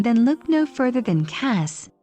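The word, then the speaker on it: Kaş: If you're looking for a cute seaside town to spend some time, then look no further than Kas, pronounced Cash.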